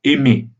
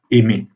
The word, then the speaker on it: aimer: Or, puisque dans l'infinitif aimer, comme vous entendez, le R n'est pas prononcé, on considère que la syllabe tonique finale est ouverte, est libre. Parce que dans la prononciation, il n'y a pas de R, même si au niveau graphique, le R est présent.